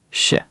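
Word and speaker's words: 是: Sh. The whole thing drops down. Beautiful. Now say it with me twice. Sh. Sh. Perfect pronunciation that time. Notice you're not dragging it out. It's quick and decisive.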